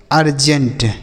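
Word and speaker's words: urgent: यू आर जी इ एन टी इसे पढ़ेंगे अर्जेंट।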